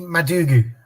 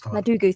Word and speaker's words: Madugu: Justine Mugu. That's Madugu. Thank you.